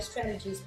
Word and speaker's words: strategies: Et c'est plus courant de dire strategies parce que le T devient un D. Strategies. Le son G ici devient un J. Ici chez nous c'est J. Stratégie. Et ici on a un J. Et par contre la terminaison c'est I. C'est comme la tour de Pi.